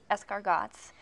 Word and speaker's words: escargots: You pronounce it escargots.